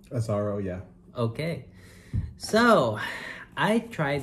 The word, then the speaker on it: Azzaro: azaro yeah did they say his name right azaro yeah okay so i tried this fragrance on